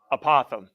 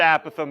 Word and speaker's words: apothem: to pronounce this but anybody apothem yes I've heard a Pithom before if anybody said a Pithom X but it is not a possum all right opossum all right opossum apothem I just want to